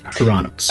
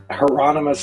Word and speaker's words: Hieronymus: Hieronymus. I think he's Hieronymus is usually how it gets said, but he will he tends to pronounce it Hieronymus. So Hieronymus is his way of saying it.